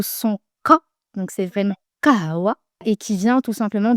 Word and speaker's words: kawa: française et avec humane vous entendrez la vraie prononciation d'origine en arabe. Le premier mot c'est kawa et ça veut dire cacher.